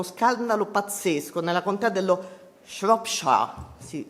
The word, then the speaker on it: Shropshire: Sempre in Gran Bretagna, a Telford, è scoppiato uno scandalo pazzesco nella contea dello Shropshire, si pronuncia così, ho guardato.